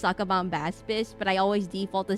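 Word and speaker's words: Sacabambaspis: I know it's pronounced Sakabomb Baspis, but I always default to saying Sakabomb Bispis.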